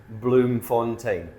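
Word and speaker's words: Bloemfontein: It doesn't look the way it sounds, but I did look it up. It is Bloom Fontaine.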